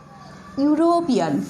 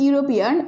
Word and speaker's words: European: And another word you see, European. Okay? European. Here you see the word European, and this word starts with the letter E, though it is vowel, but here pronunciation is like European.